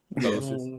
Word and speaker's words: Psicosis: So, this is the next one and I'm not going to pronounce the guy's name right, so just correct me. Is it Psicosis? Psicosis, yeah.